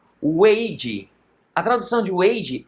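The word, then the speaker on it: 危机: Há esse ideograma chinês que a pronúncia é Weiji.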